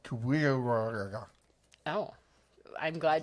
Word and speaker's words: QWWG1WGA: I'm not really sure how I'm supposed to pronounce that. It's pronounced Kuya.